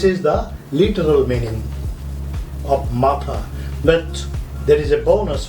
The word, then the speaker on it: মাথা: Number 1, head, that is Maathaa. You see the spelling, I have used double A. Double A means you have to pronounce it as A sound.